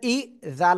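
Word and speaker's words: إِذَا: ইরাজা একসাথে নাসরুল্লাহি ওয়াল ফাত দেখেন হামজা জের ই জাল আলিফ জবরে জা এক আলিফ টান জবরে বামে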